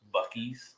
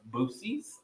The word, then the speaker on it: Buc-ee's: Some people didn't know that Buc-ee's was pronounced Buc-ee's. Yeah. Someone told me, is it pronounced Boosie's? Boosie?